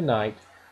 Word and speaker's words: knight: We use an N for the knight because even though the word knight starts with a K, so does the word king. The king gets the K, and the knight uses the sound at the beginning of the word, the N for knight.